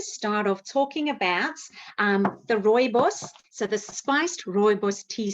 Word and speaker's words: rooibos: Rooibos. So you kind of roll the tongue, rooibos. So all red bush.